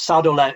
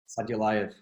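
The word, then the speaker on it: Sadulaev: Because Saudolev, is it? Sorry, I don't know how you pronounce it. Saudolev. Sadulayev, yeah. Saudolev.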